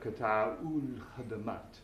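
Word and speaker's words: قطاع الخدمات: And that eats up the aleph in the definite article for al-khadamat. So we have qata'ul khadamat.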